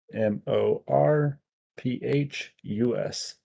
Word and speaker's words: Morphus: M O R P H U S. Oh, that sounds more like morphus.